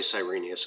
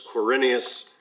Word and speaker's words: Quirinius: in 86 coordinate carinia i keep on to say cyrenius because that's how we learned it right from luke 2 when we were kids so it's quirinius is the way it's spelled now in the esv he became imperial leggett